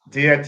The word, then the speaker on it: Diakite: I hope I don't say your last name wrong. Diakite. Did I say Diakite. Diakite.